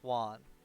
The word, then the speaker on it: Swan: Also, I'm pretty sure it's pronounced Swan. Just Swan. Well, she said Swan is fine. But she also said it was pronounced like swung. But without the G. So that to me sounds like swan.